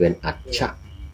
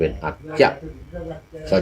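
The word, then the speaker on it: อัชชะ: นี้ นะ วัน นี้ ใน ภาษา บาลี เป็น อัจชะ นะ อัชะ อัชะ แปล ว่า วัน นี้ ส่วน ใน ภาษา ล้าน นา นี้ ออก เสียง เป็น อัจจะ ช้าง นี่ ออก เสียง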